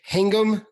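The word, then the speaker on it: Hingham: Outsiders from Massachusetts have a bad habit of mispronouncing towns is it hangum Massachusetts yes hangam all right I got it right uh which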